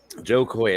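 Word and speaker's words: Jo Koy: Joe Coy. It's spelled Jokoy.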